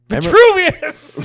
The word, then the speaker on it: Vitruvius: Yeah, but how do you pronounce it? That's the old guy, though, right? All right, let's go through this. Vitruvius.